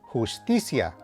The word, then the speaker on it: justicia: Tip number 2, whenever you see an R at the beginning of a word, you should give it a slight trill or roll the R as they say.